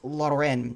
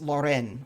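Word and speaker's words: Laurent: this i'm so sorry it's lauren with a t at the end but i actually looked this up on youtube i think it's lauren it's french so the t is silent uh but it's loren or something like that i apologize if i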